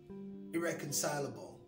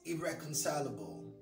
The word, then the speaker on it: irreconcilable: Irreconcilable. I've heard that word pronounced as irreconcilable something. No, it's irreconcilable.